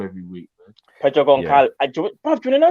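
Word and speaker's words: Gonçalves: How do you pronounce it? Goncalves.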